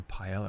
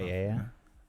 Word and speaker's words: paella: I think I normally I like I would normally get like a pella or something or like tapass type stuff. Paella.